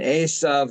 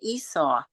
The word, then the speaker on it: Esau: eventually of the Christians how come we say and you always say Asa and how do you say it everybody I think that has talked about it says it the way I say it Esau okay Esau no it's still not the same but whatever we know